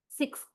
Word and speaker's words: sixth: Somewhere in the middle, where you pronounce X, sixth. Where is the tongue? Even before you go to the last consonant, that is the, don't you feel your tongue already touches the upper teeth?